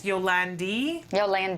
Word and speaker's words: Yolandi: Our very special guest, I've been saying her name wrong all morning. It's Yolandi.